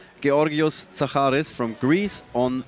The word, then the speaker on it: Georgios: Yas by the way this is how you say it key Oreos Sahara is from Greece